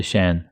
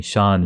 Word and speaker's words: Shan: Thursday get to hear from Holly Shawn holy SH an I so the one of the reasons I can't I can't pronounce that word correctly it's because sha n